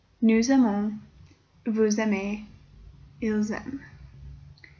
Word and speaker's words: aiment: J'aime, tu aimes, il aime, nous aimons, vous aimez, ils aiment. Notice that the plural form ends in ent. You don't pronounce it, but you always know it's there.